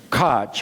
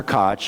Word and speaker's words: Koch: Koch. I want to say Koch, K-O-C-H, and if I could do the German throat clearing, I could say his name properly.